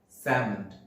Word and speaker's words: salmon: The L letter is silent in this word. Salmon.